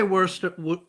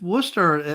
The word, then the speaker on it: Worcester: Yeah, we say Worcester because we have that. Did I say it right for you or no? We'd say Worcester.